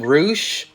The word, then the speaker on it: Rush: I also checked out Taven versus Rush, but I noticed that they call him Roosh. What the hell's up with that? I guess that's how they say it in Mexico.